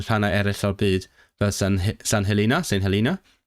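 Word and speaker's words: St Helena: Mae yna hefyd nifer o diriogaethau tramor Prydeinig mewn rhannau eraill o'r byd fel St. Helena. I know it's pronounced St. Helena because I listened to the Wendover Productions podcast ac ynysoedd y Falkland.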